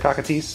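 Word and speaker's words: Cockatrice: Cockatice, or yeah, that's how you pronounce it, Cockatice.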